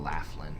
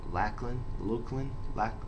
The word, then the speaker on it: Laughlin: he loves it whenever I pronounce his name Laughlin, because it's actually Lachlan, I can't even say it right, but it's always been Laughlin to me.